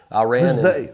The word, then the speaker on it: Iran: I ran Oh, USA. USA. I'm just kidding. I'm just joshing around. I totally know. Uh, USA played Iran. And that's how you say it, by the way.